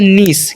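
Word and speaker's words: niece: word लिखा हुआ है एन आई ई सी ई ठीक है तो इसे हम लोग क्या पढ़ते हैं इसे हम लोग पढ़ते हैं निस क्या पढ़ते हैं निस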